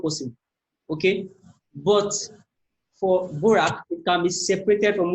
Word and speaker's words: Dvorak: Yeah, because the D is silent. You cannot be saying Dvorak. No, it's not okay. It is Borak. That is the D silent, okay?